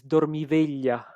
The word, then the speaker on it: Dormiveglia: Um and I know I should know better, but the right pronunciation for the title is Dormiveglia, which is Uh-huh.